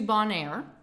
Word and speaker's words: Bonaire: Then to Bonaire. Then St. John, Antigua. And then to St. Martin. That's how you say it. Bon Air. So That's Bon Air.